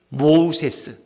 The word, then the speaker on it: 모세: 이 공주가 모우세스. 애굽 말로 모우세스. 모라는 거는 이 물이라는 뜻이 물. 그 우세스라는 건 건져내다. 그래서 원래 애굽식 이름은 물에서 건진받은 자예요. 모세라는 이름은. 그러나 그래서 히브리식 발음으로 하니까 모세.